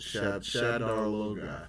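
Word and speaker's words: Shadar Logoth: This one I can't say a whole lot about it, but the little article thing, this thing says that they actually built Shadar Loga.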